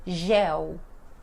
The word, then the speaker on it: gel: de n então em gel G né então L sozinho vai ficar som de u então álcool em gel